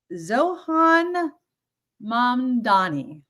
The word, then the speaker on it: Zohran Mamdani: Zohran Mamdani. I'm going to say it right because I know that apparently mispronouncing this gentleman's name is something, it's like, come on.